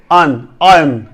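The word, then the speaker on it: iron: आयरन पढ़ता रहा, लेकिन ये एक्चुअल जो वर्ड है वो आयरन नहीं है। That is EYE, IUN, आयन, आयन। आर जो है इसमें आपने साइलेंट रखना है, आयन, EYEIUN, आयन, नॉट आयरन, आयन।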